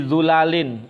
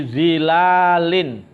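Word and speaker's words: ظلل: Umumnya para ulama membaca hum wa azwajuhum fi dhilalin. Lah sementara Imam Hamzah dan Imam Kisai membacanya fi dhulalin, jamak dari dhullah, ya, dho-nya di dhammah, dhulalin, bi dhammid dho min ghairi alifin, dengan tanpa alif, fi dhulalin alal araiki muttaqiun.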